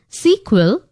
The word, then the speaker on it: SQL: the full form of SQL often pronounced as sequel is structured query language